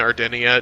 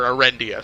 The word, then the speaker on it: Arendia: characters, that Sandari and Ardenia don't get along, and that Sandari has been messing with Ardenia. Or Arendia, sorry, I'm pronouncing it wrong.